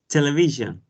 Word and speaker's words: television: and the third syllable the third syllable exactly vision it's a difficult word for spanish speakers yeah it is it